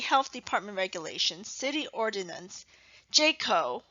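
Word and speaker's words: JCAHO: department regulations city ordinance jayco which is spelled j c a h o fire codes sanitation medical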